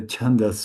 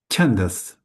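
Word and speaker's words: छन्दस्: And sa is to be pronounced really sharp. Sa. Bold and sharp.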